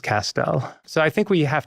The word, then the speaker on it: Castel: Castell, you know, Castell rhymes with pastel and my grandfather used pastels, let's say.